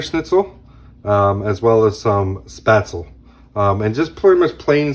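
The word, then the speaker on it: Spätzle: In the United States, we technically pronounce it Spaetzel. But if you're over in Germany, the A is more accentuated, and it would be Spaetzel.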